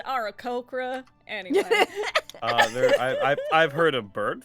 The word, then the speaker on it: Aarakocra: Oh, that there internet, it's pronounced Aarakocra.